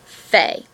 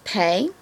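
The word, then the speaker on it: פ: I know the book says pay, but we learned pay as the letter with a dot inside of it. And when it does not have a dot, it's fe, and it makes a f sound.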